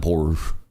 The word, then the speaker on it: Porsche: And it is Porsche, by the way. It's not Porsche. It's 2 syllables. Porsche.